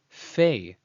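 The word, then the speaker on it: פ: But when the dagesh is not present, it is referred to by its second name, Fei, pronounced as a labial dental fricative, as in you see it in the English word funny, funny.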